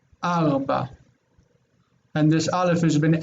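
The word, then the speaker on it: ארבע: It would be hard to say rava, so they say arba.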